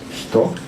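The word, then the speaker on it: 人: Ce sinogramme, quand il est seul, se prononce hito, et celui-ci se prononce aida.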